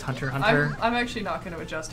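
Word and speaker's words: Hunter × Hunter: yeah like hunter hunter I used to say hunter x hunter but I found out later that's actually just hunter hunter I'm actually just how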